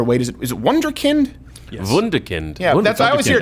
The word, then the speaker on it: Wunderkind: How do we pronounce this there, Wade? Is it Wunderkind? Yes. Wunderkind.